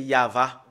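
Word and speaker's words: יהוה: on le prononce voilà le fait de le prononcer c'est yava nous allons le faire entrer dans notre registre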